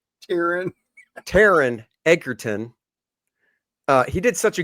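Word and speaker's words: Taron Egerton: villain which is awesome it is and uh Taylor ederton I probably pronounced it wrong Taran Taran ederton uh he did such a good job masking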